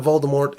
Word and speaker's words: Voldemort: into it number 5 the T at the end of Voldemort is silent ok it's harmless enough